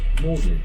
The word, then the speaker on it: Magdalene: It is named after Thomas, Lord Audley of Saffron Walden, and is pronounced Magdalen, although it is spelt Magdalene.